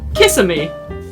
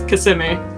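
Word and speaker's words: Kissimmee: for example again uh kissimi people would say kissm that that is how people pronounce it when they don't live there but if they've lived there it's CMI so it's just funny to see how people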